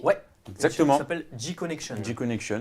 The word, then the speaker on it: G-Connection: G-Connection. Donc ça s'écrit avec un G, donc c'est à l'anglaise.